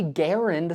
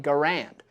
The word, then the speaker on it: Garand: that does not mean that's the only correct way to say the name of this rifle because that's just not how words work let me explain during World War II if you asked a US Soldier what the name of this rifle was he'd probably say Garand and if you asked